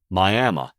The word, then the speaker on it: Miami: the Mother Road is Miami spelled just like the city in Florida but pronounced Miami and that's in Oklahoma